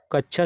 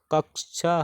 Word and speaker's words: कक्षा: इसकी व्याख्या देखते हैं कक्षा शब्द का शुद्ध उच्चारण कक्षा है शेष विकल्पों के शब्द उच्चारण की दृष्टि से अशुद्ध है प्रश्न 1039 निम्नलिखित